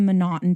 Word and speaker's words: M'Naghten: take a deep dive into exactly what the monotone defense is and monotone is spelled several different ways it's spelled mcnaughton it's